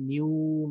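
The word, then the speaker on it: nu: এই কোর্সে আমরা এটাকে নিউ দিয়ে প্রকাশ করব এটা ভি না এটা হলো নিউ এরকম একটা শেপের একটা সিম্বল নিউ উচ্চারণটা হলো এন ই ইউ এন ই ইউ এরকম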